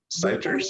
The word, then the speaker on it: Seiters: Did I pronounce that right? Seiters? Yes, you did.